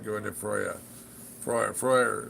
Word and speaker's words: Freyr: Freuer is the proper way to say his name, apparently. Freuer. Like in Freud, yeah, peace.